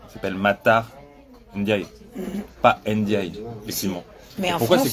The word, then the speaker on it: Ndiaye: Aussi, mais en France, ils diront Ndiaye. Oui, parce qu'ils savent pas dire Ndiaye. En fait, ils veulent prononcer toutes les lettres. Le fait d'avoir deux consonnes en France, c'est bizarre. Donc t'as le N avec un apostrophe et du coup tu dis Ndiaye, tu sais pas.